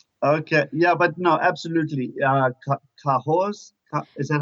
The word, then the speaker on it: Cahors: Cahors, is that how you say it? Cahors, yeah.